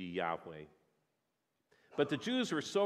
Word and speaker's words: Yahweh: why H wh and that has led to different translations to the year Jehovah you might have heard that that's an attempt to try to to figure out how to pronounce this name and also probably most closely to the original would be Yahweh but the Jews were